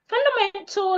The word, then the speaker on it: fundamental: Fundamental is an example of a word that has silent letter A. The A before the L in that word is silent. It should not be heard.